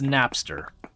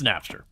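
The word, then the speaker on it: Knapster: That's Napster. Uh spelled with a K. So K A or K N A P P or it's whatever. It's Napster.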